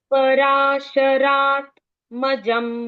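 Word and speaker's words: पराशरात्मजम्: वंदे पराशराम नंद जी पराशरात आधा त यहां तक एक वर्ड पराशरात दूसरा वर्ड मजम तीसरा वर्ड वंदे अभी ट्राई कीजिए पराशरा पराशरात है ना पराशरात मजम आधा त पूरा त नहीं आधा तराश मजम वंदे मजम वंदे ठीक है पराशरा मजम वंदे ईजी वेरी नाइस एक और बार बोल दीजिए पराशरात मजम वंदे त पूरा नहीं बोलना है ना पराशरात्मज मजम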